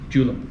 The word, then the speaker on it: Julum: Julum. Julum. Yeah, Scandinavian. Okay. The J is silent.